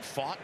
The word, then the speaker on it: Pfaadt: Talked with Pfaadt yesterday, and he joked his name is spelled P-F-A-A-D-T. And then he went to Bellarmine. He said a lot of times he was fat from Bellarmine. Right. It's almost like the vowels and the consonants are in the wrong order.